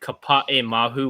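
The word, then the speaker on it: Kapaemahu: I will just say I have to correct pronunciation from last episode. The short that I'm bummed did not make it Kapa'e Mahu, which is a Hawaiian short, which was like on track to be nominated.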